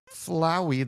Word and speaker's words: Flowey: Flowey the flower. I would say flowy, but that wouldn't rhyme with flower. It would rhyme with like flower. So I think it has to be flowy, right?